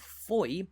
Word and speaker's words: Fowey: town's name but ultimately the English pronunciation of Foy seems to have won out against a wealth of